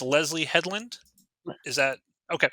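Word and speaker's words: Leslye Headland: the acolytes created by yes I cannot wait pronounced Leslie Hedland is that okay correct I'm not familiar with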